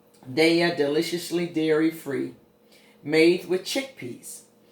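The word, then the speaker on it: Daiya: And I'm going to see what it tastes like with that little bit of, I think it's pronounced Daya. Daya, deliciously dairy-free, made with chickpeas.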